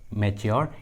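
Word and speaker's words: mature: जब भी किसी इंग्लिश वर्ड्स में टी के बाद यू आर ई आता है तो टी का उच्चारण च होता है, टी को च पढ़ते हैं, इसलिए यहाँ पर टी का उच्चारण च हुआ है।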